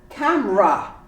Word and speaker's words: camera: the e lis ning how about camera you say camera camera completely omit the e catholic of course we